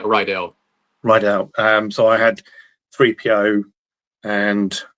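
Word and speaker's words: Riddell: would have been the do you pronounce it Rydell or Riddle? But it's a maker of the American football helmets. Oh yeah, Rydell.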